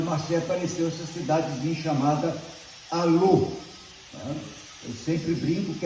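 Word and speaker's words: Allauch: Alô, não tem como esquecer. Se escreve Alauche, mas se fala alô.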